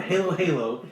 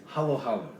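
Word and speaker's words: halo-halo: treat in the philippines called hollow hollow now if you look at it you might think it's it sounds like halo halo because it's spelled h-a-l-o you don't know how to times two vowels in other countries so it's not halo halo it's halo halo you want to talk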